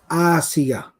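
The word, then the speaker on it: آسية: and her name was Asiya. Asiya. Okay? Asiya. And even those who are particular about Arabic pronunciation, it's with an alif and not an ayn.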